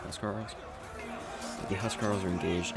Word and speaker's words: huscarl: Oh, they are, because they are engaged against the Huscarls, or Housecarls, depending on how you say it. I would say Huscarls.